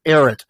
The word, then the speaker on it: Ehret: Matt Ehret, E-H-R-E-T. So the H is silent.